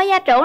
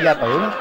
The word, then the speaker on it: gia trưởng: Bạn ơi, bạn có gia trưởng lắm không? Mình không gia trưởng không? Gia trưởng chứ không phải gia tưởng.